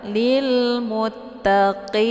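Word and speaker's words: المتقين: 'Qin' ini dibaca dengan tebal. Jadi jangan dibaca sebagai 'muttaqin' atau ' muttaqhim'. Namun yang benar adalah ' lil muttaqin'.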